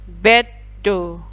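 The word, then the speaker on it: ベッド: Ada do, sebelumnya ada su kecil berarti jadi double. Beddo.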